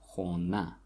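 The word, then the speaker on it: хона: And the red one, the red letter here, this is where the stress falls, khona, a. So the stress falls on a, khona, okay?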